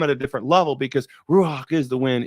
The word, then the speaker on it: Ruach: Ruach, you got to say it like that because that's the way they say Ruach.